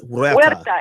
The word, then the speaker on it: Huerta: where where where da you don't pronounce the H it's like a we're like a double you sound when da Matta ok dolores huerta and it means pit